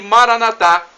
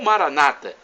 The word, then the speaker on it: Maranatá: E Maranatá, do aramaico para o português, significa vinde Senhor Jesus. Ou Maranata, pronúncia dos evangélicos ou protestantes, nossos irmãos separados.